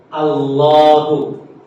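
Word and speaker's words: الله: seperti labdul jalalah ya Allahu Kenapa dibaca panjang itu kenapa ada Mad gitu di tengah padahal secara penulisan kan enggak nampak enggak ada Alif ya kan enggak ada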